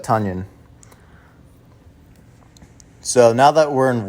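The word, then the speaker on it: Tonyan: and yes it's pronounced tanyan it's like onion but tanyan so now that we're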